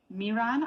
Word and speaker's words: Miran: Miran, I hope I pronounced that correctly. Correct.